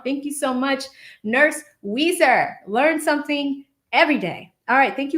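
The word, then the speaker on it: Ouiser: So it's pronounced Weezer. That's the pronunciation. I remember that. Nurse Weezer. And where is that originated from? She says, think steel magnolias.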